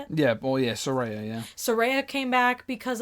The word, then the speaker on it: Saraya: Saraya? How do you say it? Yeah, well, yeah, Saraya, yeah.